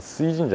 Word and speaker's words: 水神社: べたら、これは水神社と読むんだそうですが、